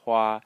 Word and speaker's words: 花: So the first syllable is pronounced Hua, the second is Mu, and the third is Lan.